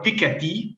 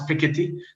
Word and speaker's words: Piketty: quite a lot of pikachi thomas or thomas piketty depending on how you want to pronounce it uh this week and